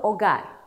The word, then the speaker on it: hogar: El grafema H no se pronuncia. ¿Te recuerdas? Es muda. Por ejemplo, hogar o hotel.